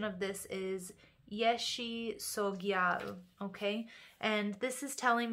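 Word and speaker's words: Yeshe Tsogyal: So the pronunciation of this is Yeshi Sogyal, okay?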